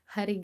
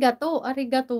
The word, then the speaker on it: arigato: maging Manananggal Joke lang Ayan Kumusta naman diyan harig Gato hindi harig arigato lang ano yan silent h silent silent h